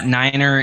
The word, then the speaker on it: niner: Yeah, niner is the correct way to say the number 9.